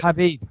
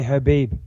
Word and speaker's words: Khabib: think I got it khabib I think you actually say Habib well no no his